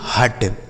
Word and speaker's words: hut: HUT हट, HUT हट। BUT बट, बी से ब, यू का उच्चारण अ और टी से ट, यह हो गया आपका बट।